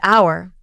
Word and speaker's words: hour: silent letter is the silent h in words like honest and hour the H is silent he's an honest person